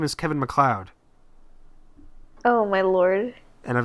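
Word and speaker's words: McLeod: all I realized I was pronouncing this man's name wrong all along uh his last name is Kevin McLoud oh my Lord and I've been saying like Kevin mlead what is his name spound like m a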